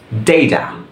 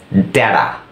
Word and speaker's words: data: এর মতো উচ্চারণ হয়, এটাকে বলে ট্যাপিং অফ টি, টিটাকে ট্যাপ করা দুইটা ভাওয়েলের মাঝখানে। সো আমেরিকান উচ্চারণে এটাকে আপনার বলবে হচ্ছে ডেইডা, ডেইডা।